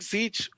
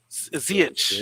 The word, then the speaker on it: Ziyech: Yeah, I would take Zeech over Havertz. Though Havertz is good, but I would take Zeech. Will Stewart says Zeech. Ziyech.